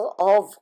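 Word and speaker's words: of: ऑव व, कभी भी फ नहीं बोलते इंग्लिश लैंग्वेज में, इसको ऑव बोलते हैं।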